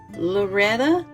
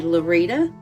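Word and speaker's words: Lurita: Loretta or Lorita. It's spelled L U R I T A, but they called her Rita. So I would say Lorita Campbell McNab not or 1792 to 1845.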